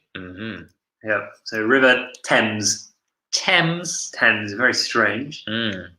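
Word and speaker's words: Thames: river the river yeah be careful of the pronunciation mm-hmm yeah so River tens tens tens very strange it's a spell like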